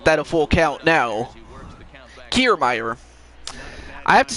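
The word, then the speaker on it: Kiermaier: coming to the plate kiermeier okay so it's kiermeier see i couldn't pronounce it correctly so it's kiermeier kiermeier was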